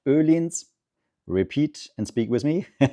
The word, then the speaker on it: Öhlins: Hidden down here is Öhlins. That's how it's pronounced. Öhlins.